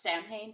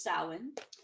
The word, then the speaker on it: Samhain: It looks like it should be pronounced Samhain, but it's Samhain.